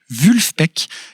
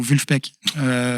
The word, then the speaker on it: Vulfpeck: complètement joyeux complètement dansant alors assez dur à prononcer ça s'appelle vulfpeck V u l f p E C K